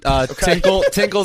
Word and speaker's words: Tinkle: And Tinkle's their head coach. It rhymes with Hinkle.